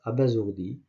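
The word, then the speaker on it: abasourdi: Lequel des mots suivants contient la lettre S prononcée Z ? On va choisir le A à bazourdi. Donc on prononce à bazourdi.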